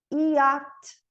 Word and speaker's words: yacht: Yacht. CH não pronuncia.